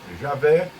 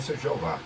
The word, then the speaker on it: Javé: a maioria dos eruditos eles preferem essa pronúncia Javé o diabo é o que diz a revista Despertai 8.298 a página 15 como é conhecido que a pronúncia mais precisa do nome de Deus é Javé foi aberto Então porque